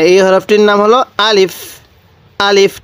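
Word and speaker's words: ألف: হরফটির নাম হলো আলিফ আলিফ টান দিবেন না আবার আলিফ এরকম ভাবে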